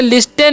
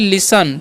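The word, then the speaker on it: listen: लिखा हुआ है एल आई एस टी इ एन। ठीक है? तो इसे लिस्टेन नहीं पढ़ना है। यहां पर जो है टी जो है साइलेंट होता है। तो इसे हम क्या पढ़ते हैं? इसे हम लोग पढ़ते हैं लिसन।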